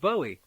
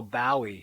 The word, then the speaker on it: Bowie: very much a beatle oh bowie he would say contemptuously to rhyme with bow wow idol wrote the monty